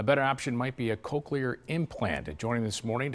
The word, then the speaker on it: cochlear: I pronounced it right? Cochlear implant?